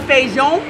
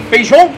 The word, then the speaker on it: feijão: Yeah, this is bean or feijão. Feijão. Feijão is how you say it in Portuguese.